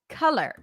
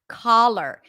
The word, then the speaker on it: color: color by the way the word color has a cup sound which is like a stress CH which means it's a little bit more open and more emphasized the schw is always stressed so it's not color but it's color color color it is not collar it's not the same vowel as the not okay so for some of